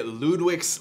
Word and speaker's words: Lludwik's: doolin and today we're playing valor and villainy ludwig's labyrinth is that how you say yes that